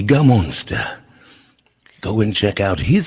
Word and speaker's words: Gammonster: you say your name is it gamma munster no no just game monster it's gamonster go and check out